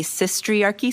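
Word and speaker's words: Sistriarchy: r c h y like it's like the patriarchy but like instead of patriarchy it's sis like sister not like cisgender right and um uh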